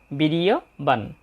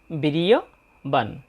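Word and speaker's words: বীর্যবান: বীর ইয় বান যেহেতু এখানে হসন্তযুক্ত ন তাই নটার উচ্চারণ হবে অর্ধেক বিরিয়বান আমরা প্রথম লাইনের দ্বিতীয় চরণটার উচ্চারণ দেখলাম উত্তজাসচ বিরিয়বান তাহলে আমরা প্রথম লাইনটা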